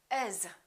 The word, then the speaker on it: as: a look for example the word as when we say it naturally and when it's in the middle of the sentence becomes is for example as long